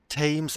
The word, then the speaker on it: Thames: The Marauder of Thames Express. Is that how I pronounce Thames?